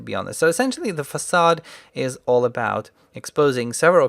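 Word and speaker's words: façade: to talk about the facade design pattern. And before you ask, that thing under the letter C is a cedilla, and that's what makes it pronounced as S instead of K. So facade is a design pattern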